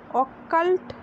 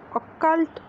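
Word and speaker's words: occult: তোমরা অনেক সময় প্রেসক্রিপশানে দেখতে পাবে লেখা থাকে স্টুল OBT, capital OBT, that is স্টুল ফর অকাল্ট blood test. অকাল নয়, উচ্চারণটা ঠিক করে করবে, অকাল্ট ব্লাড টেস্ট।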